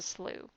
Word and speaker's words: slough: seen the word is it's spelled s-l-o-u-g-h and that's a slew and so you might